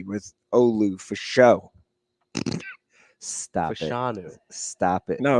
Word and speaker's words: Fashanu: For show, it's Fashanu.